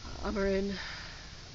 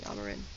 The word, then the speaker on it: Amarin: just put A, or Amarin is how you pronounce it, but most people end up saying Amarin, in case you didn't know that.